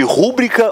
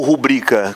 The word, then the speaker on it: rubrica: isso pública e aí pelo critério básicos a palavra terminada em ar a sílaba tônica vai ser o que pessoal a penúltima toda a palavra em português terminada em ar apenas o ar não diga o ditongo qual que é mais uma a sílaba tônica vai ser a penúltima isso é um princípio